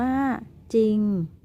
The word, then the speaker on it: จริง: ที่ สอง ก็ คือ คำ ควบ กล้ำ ไม่ แท้ ที่ ออก เสียง พยัญชนะ ตัว หน้า เท่า นั้น นัก เรียน ลอง มา